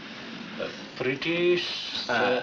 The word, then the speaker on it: Pritish: Pritish... Rhymes with British.